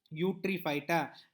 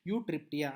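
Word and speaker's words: Eutreptia: Now examples are euglena and also Eutryphyta, like that. I'm sorry, I'm extremely sorry, Eutryptia. I'm sorry, I used a wrong pronunciation. I'm extremely sorry for this. Eutryptia.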